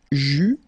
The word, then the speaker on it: eus: forms you will pronounce this combination of vowels E, U. You don't pronounce it like normally we would pronounce it E, okay, but we will pronounce it U all the time. Okay, so JU, final S not pronounced.